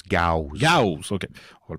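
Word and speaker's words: Gyaos: En anglais, il prononce Gauss.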